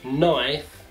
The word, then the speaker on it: knife: quando nós tivermos uma palavra que tenha a letra K, e logo após essa letra K nós temos a letra N, a letra K na palavra vai ser uma silent letter. Então nós não iremos pronunciar a letra K. Como, por exemplo, knee, no, knife, knock.